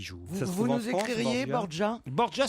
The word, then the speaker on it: Borja: Borgia, ça s'écrit Borja.